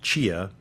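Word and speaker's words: CHEA: the Council on higher education accreditation pronounced Chia or the US Department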